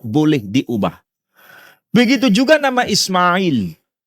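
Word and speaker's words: إسماعيل: Ismail di situ setelah huruf mim tidak boleh ada alif. Sedangkan kalau ditulis di luar Quran, silakan ditambahkan alif. Tapi kalau di dalam Quran, mim tanpa boleh ditambahkan alif. Tapi bacanya Ismail.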